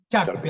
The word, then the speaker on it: Charpy: habló de sharp y puede ser en el término correcto charpy así como suena se escribe gracias que sería un